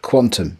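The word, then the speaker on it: qntm: division and it's by an author called quantum that's spelt without any vowels um in in the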